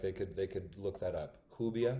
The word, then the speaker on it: Rubia: Hubia. R. Rubia. Oh, like I guess in English, like Rubia.